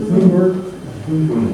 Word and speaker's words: Thunberg: Is it Thunberg? Yes. Two words, people who have the right pronunciation.